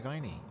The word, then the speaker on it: Guiney: Partner Jerry Guiney. it is indeed. Yes. The infamous Jerry Guiney. He Am I pronouncing it right? Is it Guinea? Jerry Guinea. Guinea. Yeah. Cork pronunciation a bit different, but He's from Rockchapel, I believe.